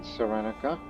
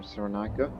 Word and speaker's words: Cyrenaica: We have established a foothold in Cyrenaica, or Cyrenaica, depending on the pronunciation of where you're from.